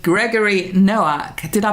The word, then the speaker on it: Noack: And today I've got a fabulous male guest, which is quite rare for me these days, called Gregory Noak. Did I pronounce that correctly, Gregory?